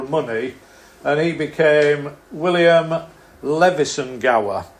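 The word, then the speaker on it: Leveson-Gower: and he became William Levison Gower. Although, if you're an aristocrat, you have to pronounce it Lucen-Gore, because they talk differently in high circles.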